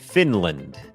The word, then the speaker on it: Finland: คอร์ส ฝึก ออก เสียง ฟินแลนด์ อ่าน ว่า finland finland โอเค อัน นี้ บ่ง บอก ว่า จำ ได้ ม อัน นี้ ก็ เน้น พยางค์ ขึ้น สูง Fin Fin Fin พยาง ไม่ เน้น L finland finland เหมือน กัน ครับ